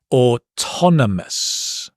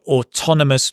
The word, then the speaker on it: autonomous: So autonomous means independent. Again, notice the stress has changed. Ton. Autonomous. Yeah.